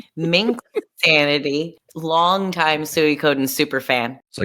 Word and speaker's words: Suikoden: Sucadin first one I think. Is that how you say it? Wait, hold on. Time out. It's It's Suie Coden.